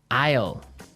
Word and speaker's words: isle: l e Isle Isle it's a tricky word it sounds like the contraction of I will yeah but it's spelled so strangely right we don't pronounce the S the S is silent